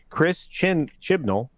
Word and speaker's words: Chris Chibnall: showrunner, I'm going to say his name properly, Chris Chibnall.